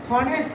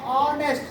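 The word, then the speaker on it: honest: যদি বলছে উচ্চারণটা কার মতো হয়? স্বরবর্ণের মতো হয়।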